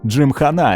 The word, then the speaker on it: Gymkhana: звезда юту Кен Блок кстати именно Джим хана - Это правильное произношение слова дадада в русском ютубери Джим